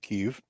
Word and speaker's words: Kyiv: able to prevent the fall of Kyiv, or Kiev, depending how you say it, I think they have amazed the world right now with their steadfastness.